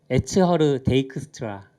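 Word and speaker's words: Edsger Dijkstra: 베트남은 이제 일본식 발음이라서 그래. 이분은 많이 알려지시긴 했는데 브랜든 아이크. CH가 크로 끝난다고. 그리고 이제 에츠허르 데이크스트라.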